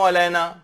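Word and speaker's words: علينا: अच्छा, फिर है अस्सलामु अलैना, इसको लोग अस्सलामु अलैना अलैना अलिफ से, अलिफ नहीं है इसके अंदर, अस्सलामु अलैना आयन की आवाज निकलनी चाहिए, अलिफ की नहीं निकलनी चाहिए, यह गलती इसके अंदर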